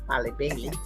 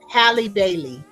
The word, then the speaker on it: Halle Bailey: Holly Bailey. And it's not. Is it pronounced Halle? I know there's a Hallie, difference It's Halle between Bailey. Haley, Halle Halle Bailey.